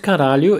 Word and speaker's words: caralho: Here the intonation is very important. Caralho! This word can also be used to express surprise or even admiration. The intonation here will be something like caralho!